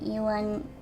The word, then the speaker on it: Ivan: Pretty sure it's canonically ewan ewan with the emphasis on the second syllable. Okay, then I guess I'll I'll go with that then since uh Ivan is wrong.